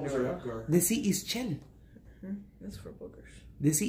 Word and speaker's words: Ixchel: You could also say Ixchel, because it's I-X.